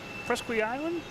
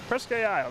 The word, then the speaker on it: Presque Isle: Presque Island. Presque Isle, there we go.